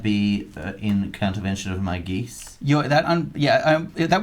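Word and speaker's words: geas: you pronounce it isn't it i think it's pronounced gesh but that's fine i know it is gesh it is gesh there is there is an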